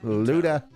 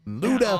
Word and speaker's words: Luto: I was pronouncing it Luda. And a lot of people like, oh, why does he say such a hard T?